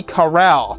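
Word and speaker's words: Kerale: actually spelled L-O-N-L-I, and the last name is spelled K-E-R-A-L-E, so Lon Lee Corral.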